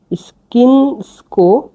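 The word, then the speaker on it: svinjsko: তো শুয়রের মাংসকে বলা হয় স্কিনসকো মেসো।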